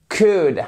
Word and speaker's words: could: How could I help you? Exactly. Et on ne prononce pas le L.